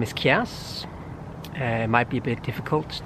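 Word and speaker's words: Kiers: answer my name is chaos might be a bit difficult to pronounce and to spell its k IE RS i used to say it's somewhere in between chaos and who cares and this video is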